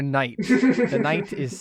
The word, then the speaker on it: Knight: the story of sir Knight the K is silent we opened up with